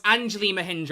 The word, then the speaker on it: Anjali Mahindra: It's Anjali Mahindra, I think.